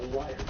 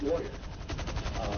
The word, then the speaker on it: lawyer: By any means, most of those people are liars. I'm sorry, I mispronounce that all the time. It's lawyer.